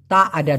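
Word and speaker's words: tiada: মূলত উচ্চারণটা হবে তা আডা ডুইট।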